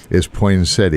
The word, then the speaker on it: poinsettia: Is poinsettia. Once in a while, I find the nut. And it is poinsettia without a T.